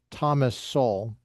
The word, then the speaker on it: Thomas Sowell: Thus soul pronounced Thomas Soul.